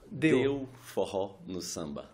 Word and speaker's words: Deu Forró no Samba: Merci d'avoir répondu à notre invitation et puis pardonnez-moi pour la prononciation brésilienne. Vous allez nous en dire plus. Do Forró no Samba. Deu forró no samba.